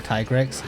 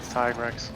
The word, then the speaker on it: Tigrex: the English like the Canon English name for tigrex is tigrex tigrex it is tigrex yes I have the localization